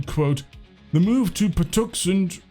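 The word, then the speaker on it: Patuxent: The statement also then goes on to say, quote, "The move to Puxen, I think that's how you pronounce it, river follows a series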